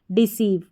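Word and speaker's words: deceive: हमारा कोड है सी ई आई वी ई डिसीव डिसीव फिर यहां पर है आर ई जैसे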